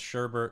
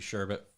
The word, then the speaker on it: sherbet: __ ] off it's Sherbert I've had arguments with people I don't care that it's spelled sherbet I don't care that it's supposed to be sure but you it's Sherbert but yeah sorbet is